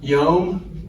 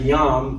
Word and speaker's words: yom: When you see it in English, it's y o m. And so, some people say yam cuz they're reading English, but the Hebrew is yom.